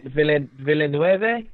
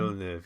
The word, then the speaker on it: Villeneuve: I think I would like to have seen Villeneuve. Is that how you say his name? Villeneuve.